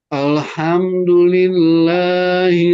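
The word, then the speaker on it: الحمد لله: Namanya tawasud, satu harokat. Jadi ketika dibaca, kalau tidak ditawasudkan, khawatirnya itu terpantul seperti bacaan Ridwan tadi. Jadi terbaca alham. Nah, jadi bacanya alham. Kalau sudah ditahan, maka sudah clean.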